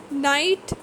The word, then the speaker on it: night: Silent GH. Night, light, fight. Same is the case here also. GH is not pronounced at all here.